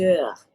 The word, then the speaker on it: heures: Il est 2 heures. Very good. You see here we do add S because it's 2. However, we do not pronounce it. We only see it when we write it.